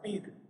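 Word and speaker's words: πῦρ: Y cuando nosotros vemos ese vocablo, fuego, en la palabra, en el original, en el griego, esto viene de un sustantivo que se pronuncia pir, de la cual viene la palabra que nosotros pronunciamos piromaníaco, es decir, un fuego, algo o alguien que es incendiario.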